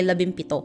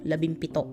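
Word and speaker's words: labimpito: anime loving anime so the purpose of like the m here is because it's it's uh for for filipinos it's kind of it's kind of hard to pronounce like la bing and then pito so for like a shortcut we just say la bimpito la bimpito la bimpito which is 17.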